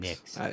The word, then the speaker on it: Nyx: Is it NYX? New York I'm on X? Nyx. I've been saying Nyx. It's Nyx.